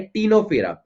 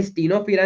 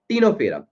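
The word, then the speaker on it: Ctenophora: फिर आपका जो टी आता है थर्ड का, ये आपको क्या बताता है, आपको बताता है टीनोफेरा। ये स्टीनोफेरा नहीं होता, इसमें सी साइलेंट होता है, टीनोफेरा।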